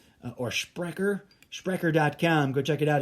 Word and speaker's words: Sprecher: The German word is Sprecher. I would think is a better German pronunciation of it. Or Sprecher.